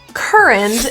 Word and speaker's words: current: We'll stress the first syllable in this word instead of the UR being pronounced as cooer, which makes sense, but English pronunciation doesn't always make sense. So we're gonna go with a cur pronunciation and stress it. So we'll sing a little. Cur. And the vowel in the unstressed position gets reduced to a schwa.